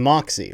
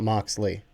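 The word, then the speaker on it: Moxey: I think Jonathan Moxy, right? It's not Moxley. Oh, cuz when you say John Moxley, I think of the AEW wrestler. My bad. I get the two. I It's spelled the same thing. Same way. No, it's Mox Lee from like the AEW wrestler is the L. I don't I think it's Moxy for the CFL player.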